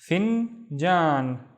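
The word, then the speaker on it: فنجان: The first syllable is fin. We have the fa with the kasra. And then jan. Finjan.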